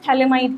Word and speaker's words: phthalimide: Okay, तो ये हमने एक सोडियम सॉल्ट बना दिया है थैलेमाइड का, ठीक, तो ये है हमारा थैलेमाइड, PH TH A, यहाँ पर PH आपका साइलेंट होता है, ठीक है।